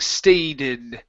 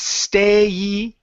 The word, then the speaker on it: stayed: Almost, so you're saying stated. Instead of stated, it's stayed.